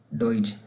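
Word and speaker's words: Deutsch: तरह करके नहीं पढ़ा, ड्यूज करके कोई नहीं पढ़ता, बल्कि मैं दोबारा इसको लिखता हूँ, ऐसे करके पढ़ते हैं। ये मैंने वैसे ही प्रोनाउंसिएशन लिखी है, इसकी कोई वर्ड नहीं है। डोइज मतलब ऊपर से पहले ओ की आवाज़ फिर ई की आवाज़, इस तरह करके पढ़ते हैं डोइज करके, ठीक है।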